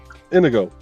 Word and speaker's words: Inigo: It's just indigo without the D. Yep. Indigo. Yeah. Inigo.